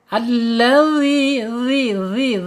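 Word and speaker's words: الذي: Sedangkan ini makhraj yang sesungguhnya ya za, yaitu ujung lidah menyentuh ujung gigi seri. Keluarkan sedikit ya ujungnya ya. Jadi makhrajnya benar-benar bagus ya. Alladzi gitu.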